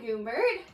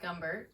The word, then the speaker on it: Gumbert: today's guest features goomber hi who happens to be my future sister-in-law and my last name is pronounced gumbert but we'll let it slide I always say goomber I've only known her